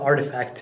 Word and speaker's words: RTFKT: a company a company called artifact it's spelled rtfkt but artifact is a